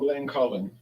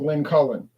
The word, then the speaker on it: Glencullen: It is called Glencullen. I thought I was saying it wrong. It is called Glencullen. 10-year aged.